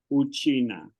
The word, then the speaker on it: Uchina: Yeah, so we usually say China, but if you really say it in Swahili, how do you say it? Unasema Uchina, okay? Uchina. Okay. Yes, you just add a U in front of that.